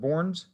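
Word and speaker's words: Bornds: main a yes and how do you pronounce that borns okay and it's b-o-r-n-d-s yes sir okay uh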